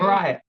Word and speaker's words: Mahryah: It's Mahryah. Am I saying it right? Mahryah? Mahryah.